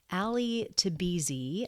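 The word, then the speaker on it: Ali Tabrizi: But this one is focused on another filmmaker, Ali Tabizi, I believe is how you pronounce his name.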